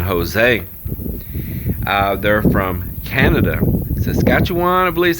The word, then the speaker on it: Saskatchewan: outside of san jose uh they're from canada saskatchewan i believe is how you say it so